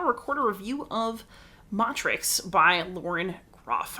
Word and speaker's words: Matrix: record a review of motrix by lauren groff i'm pretty sure most people are pronouncing it matrix i'm a latin teacher you're just gonna bear